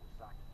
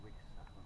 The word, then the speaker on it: Wisaka: Other roots, the Algonquin Wisaka, which one Englishman spelled the Wisaki. John Smith spelled it that way. I think Henry Spellman had a closer understanding of the pronunciation. He's the one who called it Wisaka.